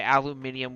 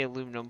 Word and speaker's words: aluminum: Obviously you guys say aluminium, we say aluminum, but that's not necessarily just a pronunciation difference.